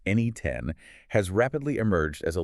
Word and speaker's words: N8N: So N8N, spelled N8N and pronounced NE10, has rapidly emerged as a leading platform for building both traditional automation workflows and these highly advanced agentic AI applications.